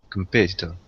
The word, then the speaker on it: competitor: one more time please competitor competitor competitor right in American English the T becomes a d competitor dur like door